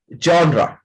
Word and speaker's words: genre: बट the real pronunciation of this word is नॉट जेनर, जॉनरा.